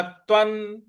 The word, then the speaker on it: त्वं: न के बाद जो अधत है उस पर हमको आघात देना है, और जो व के ऊपर जो अनुस्वार है उस पर उसका उच्चारण हमें न ले आना है।